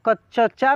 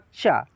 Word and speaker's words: कच्चा: ठीक है, जैसे लिखा है कच्चा, देखिए आधा अक्षर का उच्चारण जो होता है ना, उसका तेज़ी में होता है। जो आधा अक्षर रहता है उसका उच्चारण फास्टली तेज़ी में होता है। अब हम नहीं ना बोल रहे हैं कच्चा चा, नहीं ना बोल रहे हैं, क्या बोल रहे हैं, कच्चा, कच्चा चा, कच्चा।